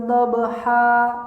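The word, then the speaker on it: ضبحا: Berikutnya, apabila kita menemukan tanwin di akhir kalimat yang berfathah, maka dibacanya yang tadinya misalkan han menjadi ha, diayunkan 2 kali.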